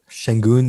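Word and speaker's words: Şengün: And I guess if you want to throw Sengun, is that the way to pronounce it? Sengun, yeah.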